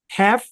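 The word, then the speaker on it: half: হাফ কি উচ্চারণ হাফ আচ্ছা এল যদি সাইলেন্ট হয় তাহলে অনেকে মনে প্রশ্ন করতে পারেন যে স্যার এখানে এ তো তাহলে শর্ট সাউন্ড দেওয়ার কথা হ্যাভ হওয়ার কথা হ্যাঁ ইউ আর রাইট দেখেন এই শব্দের দুইটা উচ্চারণ একটা হচ্ছে হ্যাভ যেটা আমেরিকান আরেকটা হচ্ছে হাফ যেটা এখানে ব্রিটিশ তো আমরা কোনটার সাথে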